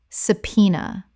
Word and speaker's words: subpoena: Correct pronunciation. Subpoena. Three syllables with the b completely silent and the stress on the second.